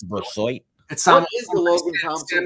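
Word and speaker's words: Brisebois: It could be Laurent Brasseau. It could be Laurent Brassois. Excuse me. I always mispronounce his name. It's Brassois.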